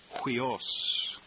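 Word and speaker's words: υἱός: And we'll pronounce that hui, almost like the Q-U-E-E-N in queen, hui, hui, huios.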